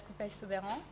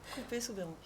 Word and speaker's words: Couppey-Soubeyran: je vous présente Coupey-Soubeyran. Je ne suis pas sûre de comment on prononce votre nom de famille. Vous l'avez parfaitement bien prononcé, Coupey-Soubeyran, c'est bien ça.